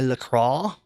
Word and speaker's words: LaCroix: really by the way I know you want to pronounce it in the accurate French pronunciation but it comes from Lacroix Wisconsin so I respect their pronunciation when I'm actually talking